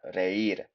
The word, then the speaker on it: reír: First off, the word to laugh, reír, the verb infinitive here, IR verb, although it's got a little accent on the I, which an accent in Spanish is called tilde, tilde. So really pronounce that, reír.